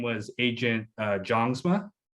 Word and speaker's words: Jongsma: character i believe his name was agent uh jongsma it's actually pronounced youngsman gotcha gotcha yep it's norwegian and heritage like